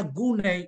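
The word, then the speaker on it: γύναι: ada warna biru muda itu bacanya guneai bukan meter meter itu dalam bahasa Yunani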